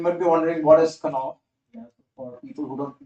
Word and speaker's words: Knopf: Knopf is the way we pronounce it.